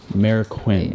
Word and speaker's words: Marroquin: will screw it up manny marroquin mayor quinn there we go manny marroquin yeah he owns it